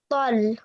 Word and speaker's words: ط: So you will pronounce it with a thick and heavy sound, which means you will be rounding your mouth a bit. You won't be reading it like this ta here. So this ta, we will pronounce it ta, and the to here, it's pronounced with with your mouth rounded a bit.